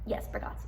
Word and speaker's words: Bargatze: Like as an example, if I'm watching Anthony Jeselnik or Nate Bargatze, Bargatze, yes, okay. I was wondering if I mispronounced his name.